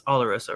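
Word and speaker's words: Oloroso: I keep saying Oloso. It's Olaroso, right?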